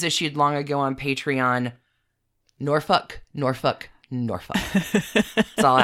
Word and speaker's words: Norfolk: I now know it is Norfolk, not Norfolk. It's Suffolk, not Suffolk.